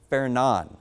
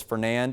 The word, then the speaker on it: Fernand: So the next name is going to be Fernan. So I know it says Fernand, and that's how it looks like it's pronounced, but the official pronunciation is going to be Fernan, and we'll have that on the web story.